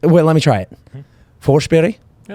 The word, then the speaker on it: Forsberg: say it's like wait let me try it forche Berry yeah it's pretty good not bad right forber yeah forber and it all depends on who